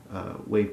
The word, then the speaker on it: WAV: Robert Sonic's wave trigger a wave is just the WAV extension of a sound file I pronounce it wave so this was a